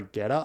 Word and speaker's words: Geta: his character is Emperor geta I believe is how you would pronounce it and then his brother